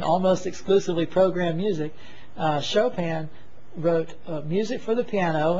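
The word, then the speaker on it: Chopin: text it looks like choen but it's a French name and so it's pronounced chopan Frederick chopan he was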